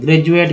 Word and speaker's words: graduate: जैसे एक वर्ड ले लीजिए ग्रेजुएट का, GRADUATE, उच्चारण D का यहाँ पर ज के रूप में होता है। ग्रेजुएट, ग्रेजुअली, है ना।